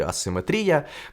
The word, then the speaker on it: асиметрія: дивитися подкаст називається асиметрія хоч правильний наголос в цьому слові асиметрія коротко кажучи Це просто